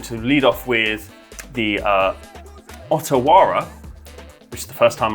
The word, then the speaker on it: Otawara: I'm going to lead off with the Otawara, which is the first time I'm pronouncing that, so I hope I'm getting that right.